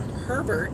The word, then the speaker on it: Herbert: But then if there's a man named Herbert, yep, you would say the H for herb.